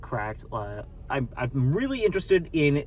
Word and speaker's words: CRKD: I wrote down questions for like CRKD. I guess it's pronounced correct.